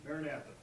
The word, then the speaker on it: Maranatha: Next, we have Matthew Davis from, how do I pronounce that? Maranatha.